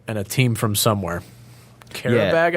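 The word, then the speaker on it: Qarabağ: Karabag, I think is how they're called, how they're pronounced.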